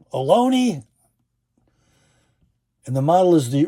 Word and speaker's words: Ohlone: They spell it as Harry Carey used to say, spells it Ohlone. Alone.